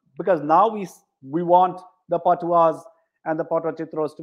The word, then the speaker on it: Patuas: So, Ritu, the question that I had for you is that the Patuas, as you know, as we would pronounce it in Bengal, the A becomes O.